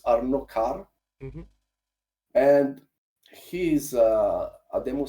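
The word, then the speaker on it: Arnaud Carré: His name is, I think the correct pronunciation is Arnaud Carr.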